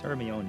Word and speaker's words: Hermione: a hermione hermione hermione names pronounced the harry potter films have changed everyone's perception of that name it's hermeone it's greek i don't call